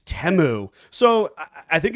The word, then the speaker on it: Temu: we were like we saying it wrong it's temu so I think it's Asen uh it's a